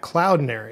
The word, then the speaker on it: Cloudinary: is the director of developer experience engineering at Cloud Nary if I could get all of that out